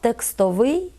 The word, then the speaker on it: текстовий: Вони відносяться до тих прикметників, які походять від іменників з односкладовою будовою. Тому такі прикметники мають наголос на закінченні. Порівняємо. Ліс – лісовий, лід – льодовий, сніг – сніговий, цех – цеховий. Отже, фах – фаховий, текст – текстовий.